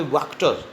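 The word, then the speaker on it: Wachter: तो black Smith था वहाँ पे, वैक्टर, इसकी प्रोनाउंसिएशन वैक्टर है, वैक्टर।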